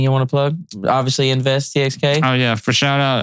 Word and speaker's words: NVST TXK: any plugs anything you want to plug obviously invest TX oh yeah for shout out uh invest TX it's the nonprofit spelled nvst txk it's pronounced invest txk you can follow us on Facebook and Instagram